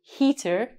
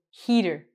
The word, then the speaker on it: heater: The thing that keeps you warm, Canada's cold in the winter, we don't say heater, we say heater.